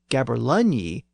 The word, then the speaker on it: gaberlunzie: is a gaberlunzie, spelled Gaberlunzie. But again, that Z was substituted for the older letter yogh, and the word is still pronounced as Gaberlunye in some older Scots dialects.